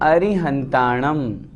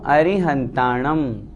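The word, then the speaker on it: अरिहंताणं: लोय सव साम नमो अरिहंतानम शुद्ध उच्चारण हम करेंगे अरी री छोटी है नमो अरिहंतानम अर्थ बनेगा नमो नमस्कार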